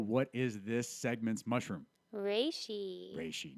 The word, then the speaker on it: Reishi: We learned exactly how it's supposed to be pronounced. Wifey Jill, what is this segment's mushroom? Reishi. Reishi. Not Rishi.